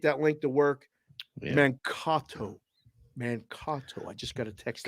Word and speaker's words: Mankato: Mankato. I just got a text. That's how it's pronounced.